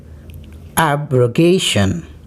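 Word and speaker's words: abrogation: जी हाँ, पहला वर्ड आपके सामने है एब्रोगेशन। जी हाँ, प्रोनाउंसिएशन की अगर बात की जाए तो हम गे वाले सिलेबल पे जोड़ देंगे इस वर्ड को प्रोनाउंस करते वक्त, यानी एब्रोगेशन।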